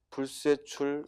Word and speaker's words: 불세출: 두 번째 거 불세출 역시 된소리로 발음해야 됩니다.